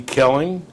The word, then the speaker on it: Koelling: Kelling is that the way you pronounces it's pronounce and spell your full name for us please my name is Kelling and and a is for